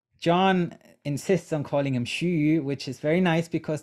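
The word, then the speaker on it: 徐訏: his name so john insists on calling him shuu which is very nice because that's actually the pronunciation that shushu uh preferred uh let me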